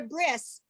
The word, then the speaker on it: bris: he has a wrist everybody calls it a bris because it's from when we do when we pronounce that that last letter is an s uh and bret means